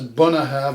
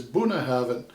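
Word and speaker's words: Bunnahabhain: the end it's like vin diesel so that's bunna have and the other way it's pronounced is bunna heaven uh using you like um in terms of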